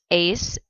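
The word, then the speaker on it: -éis: we have er verbs ace n and the e ar vosotros is pronounced like the ace of spades and a deck of cards ace we have ir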